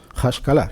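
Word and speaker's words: השכלה: Y suena tal que así. Hashkalah, que significa iluminismo, más o menos.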